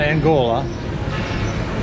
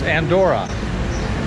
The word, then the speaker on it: Andorra: the capital city of the angora Avella not Angola it's Andorra it's a small country